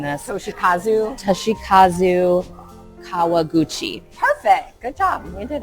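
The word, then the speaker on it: Toshikazu Kawaguchi: Um the author and please forgive me if I'm mispronouncing this. Toshi Kazu. Toshi Kazu Kawaguchi.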